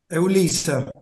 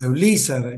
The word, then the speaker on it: Eulízar: Eulízar. Ajá, sí. Eulízar, con el acento en la I.